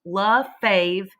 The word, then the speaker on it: Lefebvre: First, I know my name is spelled crazy, y'all, but it's pronounced Luh-Fave, and my joke is that that's pronounced fave because I'll be your favorite teacher.